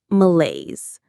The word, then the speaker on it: malaise: It's called malaise. Let's try that French word. Malaise. It sounds like males.